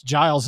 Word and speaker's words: Giles: You want to call it Gills? Yes. I say it is Giles. Giles County. It's It's Giles as far as I'm concerned.